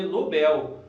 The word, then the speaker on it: Nobel: tem mania de falar Nobel, prêmio Nobel. Na verdade, pessoal, é Nobel, tá? O correto seria Nobel, tá?